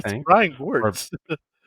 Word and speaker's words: Gewirtz: I It's think, Brian or Gortz. it's Gewert's. It's Gortz. Brian It's Gortz. It's GEWIRTZ. It's Brian Gortz.